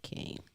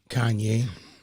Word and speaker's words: Kanye: i believe king well he doesn't pronounce it like kane kanye yeah that's all right